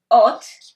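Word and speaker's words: אות: Ot. Okay? This is this. And in English, you pronounce it O-N-T.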